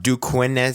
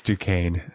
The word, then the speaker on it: Duquesne: what is his motive it's duquesne that's due it is there's an s in there it's due there's it's a like a french i'm going with duke